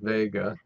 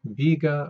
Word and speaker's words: Vega: This includes the bright star Vega. This star name is pronounced either Vega or Vega, according to my dictionary anyway, so take your pick.